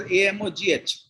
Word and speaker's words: Amogh: My son's name is pronounced as AMOGH.